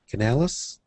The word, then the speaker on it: Canales: So tonight's guest for show number 40 was Ben Canales.